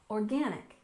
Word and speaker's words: organic: next we have organic we stress the second syllable organic organic and this refers